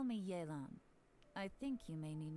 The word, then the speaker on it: Yelan: video all right so that's how we're going to pronounce it yelan yay absolutely photogenic that's obviously a breakthrough bulb there's lingering lifeline this type of clarion hello traveler call me jaelon i think you may